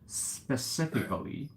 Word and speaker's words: specifically: No need to pronounce T.